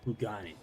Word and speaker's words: Kugani: Kugani, it.